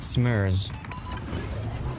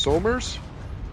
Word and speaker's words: Somers: He pronounces it smurs. Just hurts inside. Technically, it's supposed to be pronounced Somers, but that's just me being pedantic again.